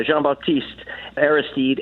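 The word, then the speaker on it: Jean-Bertrand Aristide: me recently i didn't realize that you knew jean-baptiste airsteed if i'm saying it right yeah jean-baptiste aristide and he was taken off to a french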